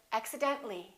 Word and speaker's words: accidentally: few more words accident when we add axi den ta li we don't pronounce the ah we say accidentally accidentally one more general